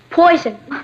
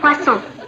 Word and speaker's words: poisson: Poison. That's pronounced poisson.